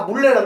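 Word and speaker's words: 문래: 문 하기 발음이 힘들거든요. 어떻게 돼? 그래서 다 물레라 그래.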